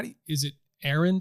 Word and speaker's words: Arend: and by the way how do is it Aaron how do you pronounce your your last name aand yeah okay I was joking with the guys